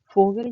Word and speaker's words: Vogel: फोगल कहते हैं चिड़िया को. तो एफ जो है वो फॉ जो है वो एफ की तरह प्रोनाउंस होता है.